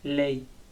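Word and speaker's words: lei: Tenemos el pronombre ella, que en italiano se dice ley.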